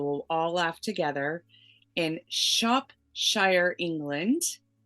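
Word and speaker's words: Shropshire: all laugh together and Shop Shire England I'm told to say it like Worcestershire and she lives with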